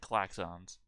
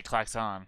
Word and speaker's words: klaxon: how you say that because i've always said claxons axons clack ons well i don't know sound